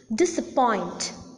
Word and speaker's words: disappoint: most prominent syllable hence the last syllable receives the primary accent but there is another